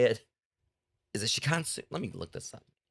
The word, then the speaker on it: Shinkansen: Is it Shikansu? Let me look this up. I mean, it's by Chilla's Art. And it takes place on a bullet train, if I'm right. Pretty sure it's pronounced Shinkansen.